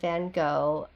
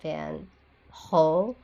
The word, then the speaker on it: Van Gogh: And, um, in America, we do say Vincent Van Gogh, but, uh, it's actually Vincent Van Ho. And again, I'm not even saying that correctly, but it's just not a hard G. It's closer to that H sound that I cannot I mean annunciate because I don't speak Dutch.